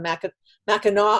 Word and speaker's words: Mackinac: Deadly Secrets on Mackinac Island, as I learned how to pronounce it today.